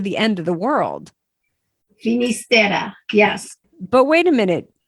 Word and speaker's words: Finisterre: starts with an F has a couple different names that it goes by. One is a Galician name, which is Fistera. And the other is the Spanish pronunciation, which is Finisterre, which means the end of the world.